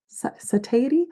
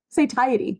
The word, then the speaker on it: satiety: It's all about controlling your body, suppressing your sat, how is that pronounced? Satity. What's the word for like your stomach telling your brain that it's hungry? Satiety.